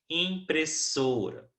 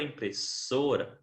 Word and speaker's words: impressora: das palavras por exemplo impressora da palavra impressora a sílaba tônica né é a penúltima e de acordo com